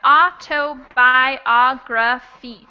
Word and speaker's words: autobiography: it's uh actually five autobiography oh no six six biography yes autobiography yeah so that o is the stressed syllable please again white fight